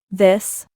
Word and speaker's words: this: Fíjate en estas dos pronunciaciones, se parecen pero no son iguales. This.